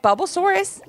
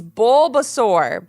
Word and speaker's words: Bulbasaur: mom with a giggle but I'd never forget bubbles saurus he's my favorite Levi almost couldn't speak because he was laughing so hard at that mispronunciation Mom it's Bulbasaur but thanks for trying we'll see you after